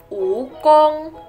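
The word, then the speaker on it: 蜈蚣: kecoa kelabang kelabang adalah Wukong ukong ukong jadi ini kayak bukan bacanya uwuu tapi kayak pudong Wukong Wukong kelabang lalu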